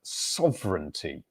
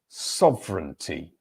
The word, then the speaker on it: sovereignty: Here's another good word to pronounce from Sheikh, and it is the word sovereignty. Sovereignty. Sovereignty. So the stressed syllable here is the first. sov. And it's 3 syllables.